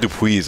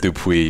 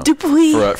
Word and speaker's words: Dupuis: changers, you know, and I'm also gonna have to change my last name from having an S at the end to no S. It's actually silent. Oh, I said Dupuis. I actually pronounced the S. My bad. Yeah, I should have said Dupuis. You gotta take that just S a little off, yeah, you know, Dupuis for us anglophones.